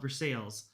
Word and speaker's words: Versailles: Versailles, right? Not Versailles. Even though it's spelled like Versailles. I think in Kentucky they call it Versales.